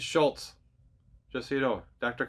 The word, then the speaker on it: Szulc: stop in understanding what to say next it's Schultz just so you know Dr Schultz now a lot of you have met and